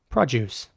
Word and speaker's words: produce: know in the comments in British English this will be pronounced compost compost in American English it would be more like compost the the O at the end is very round composed in American English